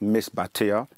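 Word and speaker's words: Misbatiya: known by many names um the way we pronounce it in our langu in our tongue is Miss batia that's m i s b a t i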